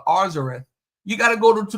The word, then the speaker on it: Arzareth: The writer in the 1st century combined both books, both words, and made it and pronounced it Arzareth.